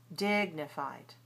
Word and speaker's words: dignified: And the last word in this group, dignified. This one has two i sounds in the first syllable and the second syllable. But of course, the first syllable is longer because it's the stressed syllable.